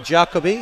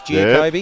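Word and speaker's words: Giacobbi: We've been told it's not Jacobi, it's Giacobi.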